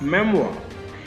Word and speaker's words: memoir: MEMOIR is pronounced as memoir.